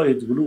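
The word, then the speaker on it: AdBlue: آره ادبلو یا ادبلو ما در آلمان اینجوری تلفظش میکنیم.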